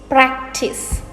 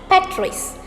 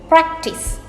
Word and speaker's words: practice: heard this a lot it is practice it is very straightforward you pronounce it just as it is written practice and it is practical not